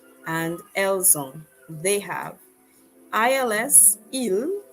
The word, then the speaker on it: ils: And finally, ils ont and elles ont. They have. ILS, il, sounds just like the singular form IL, but it means they